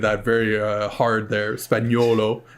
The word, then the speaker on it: Spagnuolo: I pronunciated that very hard there, Spagnuolo. Spagnuolo.